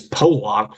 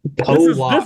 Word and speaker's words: Pollock: Pollock is how his name is pronounced.